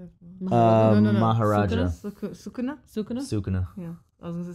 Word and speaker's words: Sukuna: Sukuna. Yeah. I was going to say Sakuna.